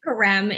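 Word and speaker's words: Carême: i don't know how to say his name karem a rem thank you i knew you knew what i was going for yeah there's karem in france who is like innovating in this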